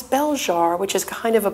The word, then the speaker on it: Belzhar: Tell me about the pronunciation of your book. Well, a lot of people have been saying Belzhar, but okay. I answer to that too, you know. But it's Belzhar, which is kind of a play on the